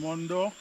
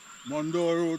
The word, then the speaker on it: Morne Dor: So folks, I'm here now at the junction of Leo Road and Mandor. They spell it M O R N E D O R. Mandor going this way.